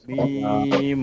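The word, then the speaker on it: ميم: এরকম লাম লাম মিম মিম মিম এটাও ইজি এটা এই দুই ঠোঁটের শুকনা জায়গা থেকে হয়তো আমরা বলি এটা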